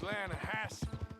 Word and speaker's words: Lanahatchee: You mean the Lanahatchee River? No. The Lanahatchee. It runs right near here. Yeah, but it's pronounced Lanahatchee.